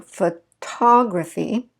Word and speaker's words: photography: So photography, notice that I reduced that. I said ph, I went to photography. I didn't say photography, I said photography.